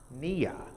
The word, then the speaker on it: Nia: next the next one is purpose which is pronounced nia to make our collective vocation the building and